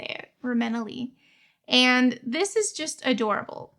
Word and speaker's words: Reimena Yee: Reimena Yee and this is just adorable.